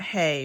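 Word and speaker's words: ה: and so we've got hay or more properly Hall the pictograph hop and this will be important to remember because the pictograph that most people pronounce as hey is actually ha and I'll do this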